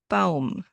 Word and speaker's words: Baum: Well, the letter combination AU in German sounds like Au in cow.